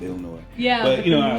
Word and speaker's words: Illinois: even though you know we don't really pronounce the s with illinois yeah but you know